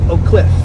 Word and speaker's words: Oak Cliff: And some people don't know how to pronounce Oakliff, right? There's a little inflection. Oak Cliff. Oak Cliff. People are like Oak Cliff or something like that.